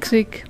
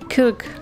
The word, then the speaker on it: Krk: Übrigens, verwirrend ist die Aussprache von Krk. Viele Deutsche sagen so wie ich Krk. Manche sagen auch Kirk. Die Einheimischen sprechen es wie eine Mischung aus beidem aus. Kirk. Oder so ähnlich.